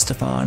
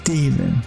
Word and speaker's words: Stephen: It's pronounced Steven. Thank you very much. Steven. With a PH.